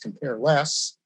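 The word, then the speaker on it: cmp_less: a function template named cmp less which i pronounced compare less we put it in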